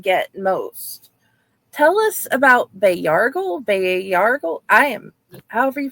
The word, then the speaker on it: Bayargle: Tell us about Bayargle. I am, however you pronounce his name, and his interesting powers of sucking the life force out of people. You're very close. So Bayargle is how I pronounce it.